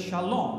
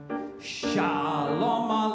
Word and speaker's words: shalom: correct pronunciation should be where the emphasis should be so it's shalom right now watch how this is all wrong shalom that's correct